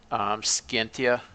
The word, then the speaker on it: Scientia: And in classical Latin, C's are hard. So Principia or Cuius or Scientia. Whereas in ecclesiastic Latin, C's are generally soft. For example, Principia or Scientia.